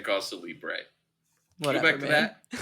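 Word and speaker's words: cause célèbre: was funnier when you were saying cause celebre.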